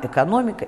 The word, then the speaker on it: экономика: На месте «э» в начале слова произносится «ы» с призвуком «э». Этаж, экран, экономика и так далее.